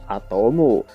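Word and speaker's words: アトム: ada di tangki tersebut pelafalan adanmu dalam bahasa Jepang adalah atomu hal ini berarti motherfame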